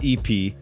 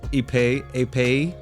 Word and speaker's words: épée: I know it's not pronounced EP, but I'm gonna pronounce it EP. I think it's pronounced... It's French. It's like, I think it's pronounced épée.